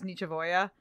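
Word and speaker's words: nichevo'ya: I spelled Nietzschevoya out so I could pronounce that correctly, because I didn't know how to spell it, but I knew how to pronounce it. It was Nietzschevoya. That part actually made me laugh a lot.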